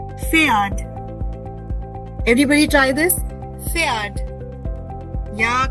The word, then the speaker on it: Pferd: So this word with P silent and R present will be pronounced as Pferd. Pferd.